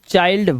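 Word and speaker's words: child: जैसे आई के बाद एन डी है तो माइंड फाइंड बाइंड और एल डी लगा हो तो चाइल्ड वाइल्ड है ना तो आई के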